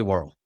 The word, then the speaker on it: Worrell: whirl that's awesome yeah and I'm saying War El so you got to correct me when I'm no no no that's greatable man that's impressive one syllable in wh you're doing it good you're doing it I mean you're actually doing it right it's just this